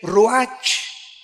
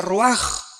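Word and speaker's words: רוח: Aquí se usa otra palabra hebrea que es se escribe roach con R de Raúl A. Se pronuncia roaj.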